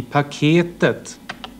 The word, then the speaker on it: paketet: I paketet. Här ser man att det är den tredje stavelsen där melodin förändras och där sitter accenten.